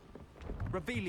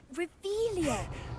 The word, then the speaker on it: Revelio: Revelio. You're saying it wrong. Ugh, Revelio. Much better.